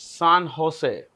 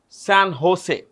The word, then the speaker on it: San Jose: San Jose. The J in Spanish is pronounced with an H.